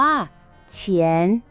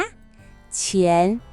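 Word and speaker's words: 钱: เท่า ไหร่ คำ ที่ 2 คำ ว่า เฉียน อีก ครั้ง นะ เฉียน แปล ว่า เงิน ตาต้า ลอง ออก เสียง ดู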